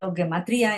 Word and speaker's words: gematría: Reiterando entonces la definición de numerología en hebreo, este su pronunciación es guimaterillá, eh gematría o guematria y es pronunciado guematría en el hebreo rabínico.